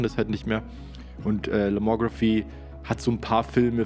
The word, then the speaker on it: Lomography: so dass die Firma Lomography glaube ich spricht man es aus auf Englisch es ist eine österreichische Firma aber es ist Englisch geschrieben deswegen würde ich sagen Lomography die stellen diese Filme